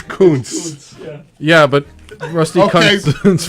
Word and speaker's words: Kuntz: Are you sure you pronounced the last word correctly? Kuntz, isn't it? It's Kuntz.